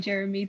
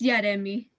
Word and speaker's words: Yaremi: usually people mispronounce my name saying Jeremy too. How do you pronounce your name? It's Yaremi. Excuse me.